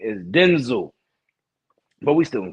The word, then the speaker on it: Denzel: His name is pronounced Denzel, not Denzel. So all the people who put that extra on the back of it, you ran off with something.